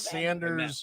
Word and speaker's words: Saunders: It's Saunders. Saunders. Sanders. I grew up down there in the hood. It's It's spelled Saunders. Sanders. Right, but Saunders. it's Saunders. So there's not a over the A. There's no whatever that is.